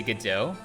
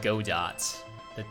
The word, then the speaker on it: Godot: Since you don't pronounce Godot, Godot. The T is silent.